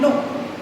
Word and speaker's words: know: silent, and in new, मैं क्न्यू नहीं बोल रही हूँ, आई एम नॉट सेइंग क्न्यू या नो, क्नो, क्नो और न्यू इज the wrong pronunciation. The right pronunciation is new and no, new and no.